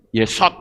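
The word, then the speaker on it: יסוד: Yod, samek, waw, dalet. Yesod membacanya.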